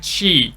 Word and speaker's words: Chi: definitely good enough but if you want to perfect it you have to drag Chi into a higher pitches so it goes like